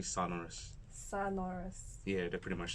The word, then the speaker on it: Sonorus: Yeah, actually a lot of people have a mispronunciation of Sonorus, Sonorus, but it's actually Sonorus.